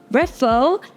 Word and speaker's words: Reffo: special guest it is the co-founder of Buffa refo am I pronouncing that right where is the name coming